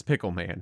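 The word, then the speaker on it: Pickelman: but his name is Pickle Man. There's no other way to pronounce it other than Pickle Man.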